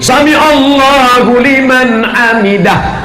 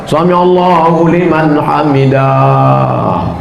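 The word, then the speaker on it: سمع الله لمن حمده: Nah ini, Sami Allahu liman hamidah. Itu bacanya pendek. Ini ada imam baca panjang. Sami Allahu liman hamidah. Ini satu mazhab dengan yang Assalamualaikum. Yang nggak panjang dipanjangkan.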